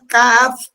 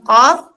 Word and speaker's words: Qaf: Kita awali di surah Kaf. Surah Qaf, ya. Surah Qaf, teman-teman, di awal ayat, di ayat yang pertama ada Qaf bertanda mad.